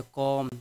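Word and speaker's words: comb: सी या कॉम, B silent होता है।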